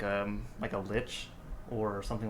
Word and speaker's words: lich: So if this person is using this phylactery to make themselves into something like a lich or something like that, It's pronounced witch.